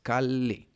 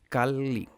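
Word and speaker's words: calli: see it in nat it just means an elongated L. So it's kali kali kali kali.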